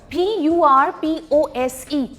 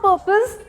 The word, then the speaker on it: purpose: पर्पस नहीं होता, वो जो ज साउंड है वो गलत है, इट्स एक्चुअली अ स sound. पर्पस, it is not purpose, it's purpose, and I have checked both, British, American, both. It's purpose, purpose.